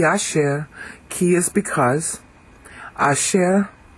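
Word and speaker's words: אשר: AER KY is because AER here it's um accented U on the last syllable AER means who which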